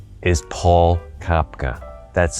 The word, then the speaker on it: Kopka: My name is Paul Kopka. That's spelled K-O-P-K-A. Some people have a hard time pronouncing it. Just remember, you're going to, if you say cop car, leave the R off.